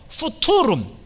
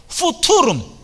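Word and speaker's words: futurum: 어드벤투스 한번 따라해 주세요 수투룸 틀렸어요 발음을 정확히 하세요 대충 하지 마시고 후 투룸 어드벤투스 좋습니다 예수님 성탄절을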